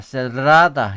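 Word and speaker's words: cerrada: 얘도 창문이 닫혀 있다 할 때 라벤나 에스타 세라다 이렇게 해야 돼요 세라다 레스떼 그래서 에스스 레스떼 하면 식당에 있니이란 뜻이죠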